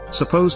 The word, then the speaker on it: supposed: To add another case, supposed or supposedly, imply that something is thought to